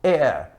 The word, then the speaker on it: heir: Mas na pronúncia, este H aqui é eliminado. Então pronunciamos our, som de vogal, honest, som de vogal, heir, som de vogal, heirship, som de vogal, honorable, som de vogal.